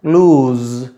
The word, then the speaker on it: lose: यहाँ देखिए सस एस लिखा हुआ है लेकिन इसका प्रोनाउंसिएशन होता है लूज, लूज, और ये लॉस नहीं होता।